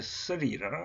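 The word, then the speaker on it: श्री: SRI라면 발음 그대로 해보면 쓰리라 한답니다. 쓰리.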